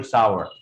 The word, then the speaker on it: sour: खट्टे को भी लोग सोर सोर चिल्लाते हैं, SOUR। Actually that is नॉट सोर, दैट इज सार या फिर सावर। आप उसको सार बोलेंगे या फिर सावर बोलेंगे।